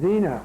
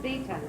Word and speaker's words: Zita: Zena. Am I pronouncing your name right? Zita. Zita, okay.